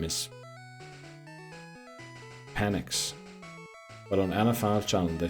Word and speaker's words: Penix: That's why I call them Penix, because that's the way that should be pronounced. Penix.